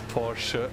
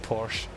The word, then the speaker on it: Porsche: at the end and in germany those e's at the end are read out so it's porsche with an e at